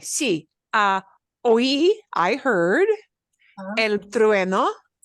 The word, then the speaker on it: trueno: The reason this is a hard word to pronounce is we've got that UE, and we have to kind of blend that ue. So your lips have to do an e. Go from an u to an e, a smile.